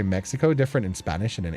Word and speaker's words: Mexico: That's why we say Mexico different in Spanish and in English. Yay. Oh, I didn't even think about that. Make a Oh, the X in Mexico is an H sound.